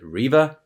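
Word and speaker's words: Reva: previous one where like riva and yes i know now that you pronounce it riva she uh at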